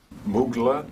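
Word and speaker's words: Muğla: Uh Mughla and I'm apologize if I'm not pronouncing that correctly if anyone knows their Turkish geography better than I do. Mugla.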